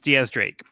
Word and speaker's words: X Drake: Yeah, so it's spelled like X Drake, but it's pronounced like Diaz, like 10 in Spanish.